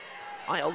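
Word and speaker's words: Aeilts: A E I L Ts. I think it's a good thing I asked one of their coaches how to pronounce the name because Isles is not what I would have said and I understand that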